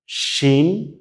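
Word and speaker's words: شين: আমাদের নোক্তা ছাড়া যেটা ছিল ওইটার নাম কিন্তু ছিল সিন, আর এইটার নাম কিন্তু শিন।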